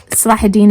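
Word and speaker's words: Salahuddin: Sahidin is how we pronounce it as Muslims in Arabic.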